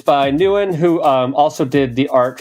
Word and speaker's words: Nguyen: So you would pronounce it as if you spelled it Newin. Nguyen.